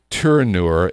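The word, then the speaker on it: Tourneau: at watches it's called I always pronounce this wrong turnure t o u r NE e auau it's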